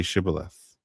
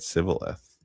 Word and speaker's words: shibboleth: When he said no, they said to him, "Then say Shibboleth." And he said, "Sibboleth." What is going on here? For he could not pronounce it right.